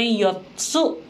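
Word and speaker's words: よっつ: Kalau yotsu, tsunya itu kecil yang di tengah, makanya kita bacanya yotsu. Jadi double T gitu ya. Tapi kalau misalnya yang 5, itu tsunya hurufnya besar, jadi kita baca itsutsu.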